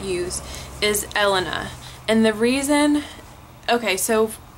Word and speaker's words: Elena: it up to someone they say Helena like they ask me how to say it and I'm like no Elena like with an e and they're like Oh I thought you said Helena and I just know